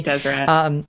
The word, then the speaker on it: Deseret: Deseret.